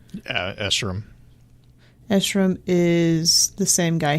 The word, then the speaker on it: Escharum: Is that the guy playing Escharum? Is that how you say his name? Escharum.